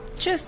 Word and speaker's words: Tschüss: Tschüss. Hasta la Chiz. vista. Chiz. Tschüss. Chuss. That's like, we could be making it up. No, it's casual. Tschüss?